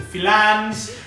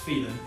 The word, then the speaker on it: Filan: The Filans have become infamous in these 12 weeks. So even other people are now referring them to them as Filan, even though it's pronounced Phelan.